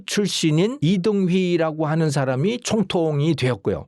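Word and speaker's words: 李登輝: 그때 무슨 일이 있었냐면, 대만의 그 당시에 총통이 1995년 당시에 대만 총통이 이등휘라고 하는 사람이거든요. 네, 그 한글로 발음대로 쓰면 리덩휘 이렇게 썼더만요. 아무튼 그 한자를 한국식으로 읽으면 이등휘 총통인데요.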